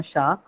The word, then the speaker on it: chat: Here it is j'ai un chat. Okay, T is silent.